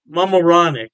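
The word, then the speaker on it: Mamaroneck: York state Poughkeepsie and I believe is pronounced moronic mamaronic yeah don't quote me on that pronunciation I tried my best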